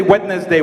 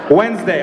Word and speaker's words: Wednesday: around all Monday Tuesday wedness day wetness day that's not how you say it wedness day Wednesday I know English is